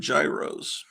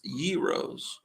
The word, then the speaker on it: gyros: get some Gyros I used to call them Gyros and uh but that's not the correct pronunciation I've been informed it's euros if it's euros they should spell it with